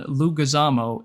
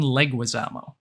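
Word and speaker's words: Leguizamo: It was Nikki, that I pronounced the name John Lugazamo. It's actually John Leguisamo. And I said it wrong the entire podcast.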